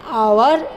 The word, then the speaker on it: hour: Before a silent H, as he was an hour late. So here in hour H is a silent letter.